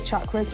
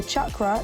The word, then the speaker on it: chakra: In fact, the official translation of Sanskrit says that the letter C is pronounced CH, as in church. So chakra used to be spelled without the H.